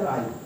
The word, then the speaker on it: wry: W silent रहेगा, नहीं पढ़ा जाएगा, इसको पढ़ेगा राई.